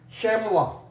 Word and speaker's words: chamois: After whatever the letter is there after OI, it is not pronounced, like chamois, CHAMOIS, chamois.